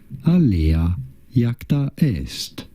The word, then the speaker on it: Alea iacta est: How do you go about pronouncing it? Alea iacta est. Alea iacta est.